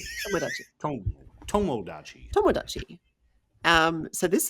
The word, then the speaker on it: Tomodachi: It's not Tamagodachi. It's tommoachi. Tomodachi tommoachi.